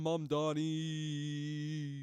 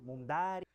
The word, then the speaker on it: Mamdani: Vamos a ver lo que dice Zohran Mamdani. ¡Vamos! Fíjense, nadie sabe pronunciar mi apellido. Es Mamdani, pero a cada rato me dicen Mundari.